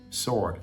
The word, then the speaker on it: sword: W is silent we don't pronounce a w it's just like Lord Lord sword sword Lord Lord women